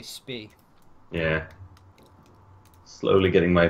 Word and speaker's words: Spee: A lot of people say Spee. Like, it basically is the British pronunciation. If you say Spee, then just have all the German people saying, it's Spee!